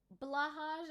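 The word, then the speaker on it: Blåhaj: Blahaj, and someone pronounced it and just clicked for me that it sounds almost exact like... Blauwe High, which is the Dutch way of saying blue shark, and I commented that and people started roasting me.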